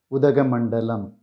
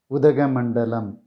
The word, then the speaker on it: Udhagamandalam: The name of this hill station can be pronounced Udhagamandalam. Udhagamandalam.